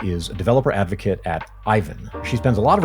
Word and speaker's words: Aiven: Olena is a developer advocate for Aiven. You may pronounce it Ivan, but you'd be wrong. It's actually Aiven.